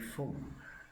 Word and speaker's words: Phung: It's actually Phung, more of a French pronunciation on it. So even though it sounds like there's an M and it's written like an NG, I'm like, I could